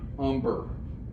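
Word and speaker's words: Humber: is a kentish dialect when there was a hu sound they did not pronounce the h weird little thing about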